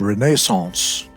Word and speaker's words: Renaissance: In the Renaissance, which was a correctly pronounced Renaissance, the French word, the popular songs were these classical musicians.